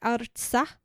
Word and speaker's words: Artsakh: And that's actually pronounced like Artsakh, but my Midwest mouth is not great. Is not struggling. Great with pronouncing we things.